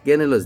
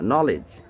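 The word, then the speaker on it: knowledge: যারা ইংরেজি উচ্চারণ শিখছো যে নলেজ কেনেলজ না নলেজ নো তারপর কি আছে কাম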